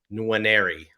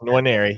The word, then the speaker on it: Nwaneri: as a 5-star contender is Williams Nwaneri, right? That's perfect. That's the way to say it. That's the way. There you go, Nwaneri.